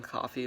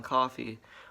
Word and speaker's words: Coffey: celebrities before this john coffey well not the name it's like john coffey yeah it's spelled different than coffee i wish funko could